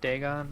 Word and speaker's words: Dagon: Is that Daygon or Dagon. Eagon. Dagon. I think it's Dagon. That's how it's pronounced.